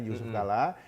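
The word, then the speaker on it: Jusuf Kalla: Kala Oh oke ya JK itu kan Jusuf Kala ejaan lama J kan Yusuf Kala tapi juga bisa diartikan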